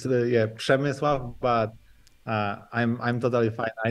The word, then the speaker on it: Przemysław: It's Przemysław, but I'm totally fine. I know that Przemysław. It's super hard to pronounce my name and my family name, so it's okay.